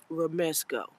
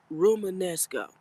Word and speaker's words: Romanesco: Romesco. Romanesco.